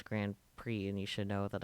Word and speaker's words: Grand Prix: race cars got it gp gran p okay probably something that utilizes his super haka skills time to go up get by a budweiser branded car pronounced grand prix that's what i said i'm pretty sure that's